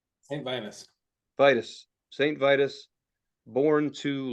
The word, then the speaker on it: Saint Vitus: Saint Vitus? Saint Vitus.